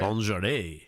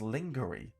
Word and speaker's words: lingerie: Lingerie completely wrong and phonetically as lingery instead of lingerie.